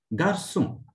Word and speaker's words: garçon: It sounds like S instead of K. Example, français, French. Leçon, which is listen. Garçon, boy.